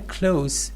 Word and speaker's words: close: So when close means near, it is pronounced with se sound.